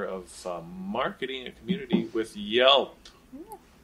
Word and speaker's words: Yelp: Yelp. Rhymes with help.